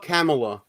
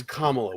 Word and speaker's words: Kamala: how dare you it's Kamala God C it's Camala Camala listen even though even though she's called herself camela it's Kamala we S I listen